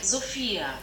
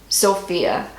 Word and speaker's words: Sophia: And so in Germany they pronounce it more like Sophia. Sophia. But it's still similar. Sophia, Sophia. It sounds very similar.